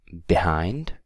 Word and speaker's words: behind: okay then we have behind behind stress is on hind okay so behind and